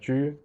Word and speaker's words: 车: In the context of Xiangqi, these characters are pronounced as 车.